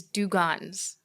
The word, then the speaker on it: dugongs: If people want to go see these dugongs, am I pronouncing that right?